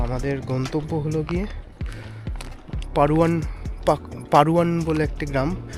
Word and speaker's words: Padhuan: তো আমাদের গন্তব্য হলো গিয়ে পারুয়ান বলে একটি গ্রাম, ইংলিশে পাধুয়ান লেখে। তো এক্স্যাক্ট প্রোনাউন্সিয়েশনটা আমি এখন মনে করতে পারছি না, পাধুয়ান বা পারুয়ান এরকম কিছু হবে, কারণ এইখানকার ডিটা আর এর মতো উচ্চারণ হবে।